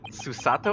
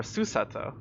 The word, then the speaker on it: Susato: Is it Susato or Susato? I'm assuming that the inflection's on the second syllable for some reason.